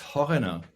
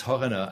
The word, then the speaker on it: Horyna: It's Horyna. It's Horyna. And what I tell English-speaking people is that they should take the word foreigner and just put an H in front of it, which makes it a